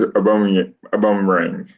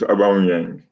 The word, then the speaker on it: Aubameyang: and also, Tony says Aubameyang. That's not how you say it. It's Aubameyang.